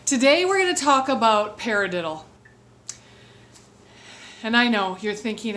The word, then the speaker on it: paradiddle: same hand and even say the word paradiddle paradiddle it has four syllables to it when the